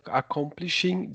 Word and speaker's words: accomplishing: My mind is also suggesting that I will feel very good about accomplishing this work once it is Accomplishing. Once again, the letter O is pronounced like the letter U.